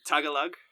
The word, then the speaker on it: Tagalog: Yeah, Tagalog. That's how I pronounce it too to my Filipino friends.